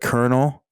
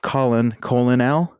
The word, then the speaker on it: colonel: Because I think I fucking hate, what is it, the colonel in the army? Why? Because it should be pronounced colon L.